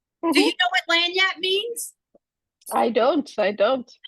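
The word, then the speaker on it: lagniappe: this one called L do you know what lanat means I don't I don't oh okay well how do we spell a whole trained person lanap in French it's a French term that means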